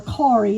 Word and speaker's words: Kari: She hated the name Carrie, or Kari is how they say it in Norway.